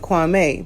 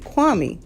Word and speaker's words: Kwame: the perfect guy now some people you know over here pronounce it kwame but he pronounces pronounces it kwami i like that does